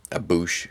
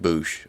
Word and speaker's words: Boushh: Boushh is how I've always pronounced it. I guess there's some controversy. It's Boushh or Boushh. I go with Boushh.